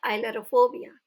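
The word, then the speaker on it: ailurophobia: Next फोबिया है fear of cats, बिल्लियों से डर, और इसे हम प्रोनाउंस करते हैं आइलरोफोबिया।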